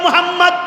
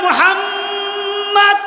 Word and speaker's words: মোহাম্মদ: এইভাবে বলতে হবে মোহাম্মদ মোহাম্মদ নামটা যখন সহি শুদ্ধভাবে কোন ব্যক্তি উচ্চারণ করবে যখন ডাবল মিমের মধ্যে দুইটা ঠোটকে চাপ দিয়া যখন ধরবে তখন শুদ্ধ করে উচ্চারণ হবে।